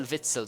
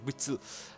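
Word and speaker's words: Witsel: Anyways, the first of our CDMs is in funel Axel Vitzell. Sorry, that's how you say his name. I don't know why I said witell and uh yeah, he was amazing as well.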